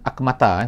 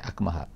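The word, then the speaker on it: الأكمه: Akmaha, dia akmaha sebenarnya bukan akmata, bukan akmata, akmaha.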